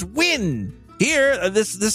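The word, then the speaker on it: Nguyen: pronounced different ways like in China there's like NG u y n that's pronounced win here this this sounds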